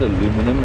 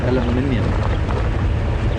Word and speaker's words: aluminium: what's this about aluminum it's not aluminum it's aluminium every every element whatever but most elements are ium but we won't